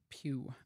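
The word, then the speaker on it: Pugh: they're like oh Florence Pew is so hot these are my my girlfriends um Pew I always pronounce it P P Florence p p p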